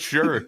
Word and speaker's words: Shure: I was like, he's putting some exotic pronunciation on this. This is Look, it's just Shure.